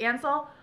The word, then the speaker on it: Ansel: I'm saying it right, I'm not saying it weird, it's Ansel.